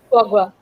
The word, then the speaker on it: foie gras: Foie gras. Foie Yeah, gras. I can't Yeah, pronounce it.